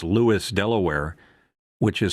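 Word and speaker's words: Lewes: see the first time an AI tries to pronounce Lewis Delaware which is spelled L E W S but says Lewis, they're going to say Louise or Yeah, but this is, you know, there's a lot of fair.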